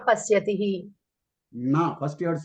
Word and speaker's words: न: वैद्यः वैद्यः न पश्यति Na. First you have to say na. Na. Vaidyaha Na. na pashyati. न Yes. Na. You have to pronounce na short, not long.